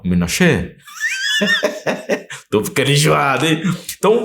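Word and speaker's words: מנשה: Então se prepare, que a gente vai falar sobre a tribo de Manassés, ou, na pronúncia original, Menashe.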